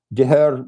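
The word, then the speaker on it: deartháir: Deher means it's like brother, but more than brother, like that close. Yeah. So. It's spelled DARTHAIR.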